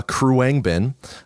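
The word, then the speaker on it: Khruangbin: favorite band that is still releasing music uh Kang bin that's spelled with an h k h r u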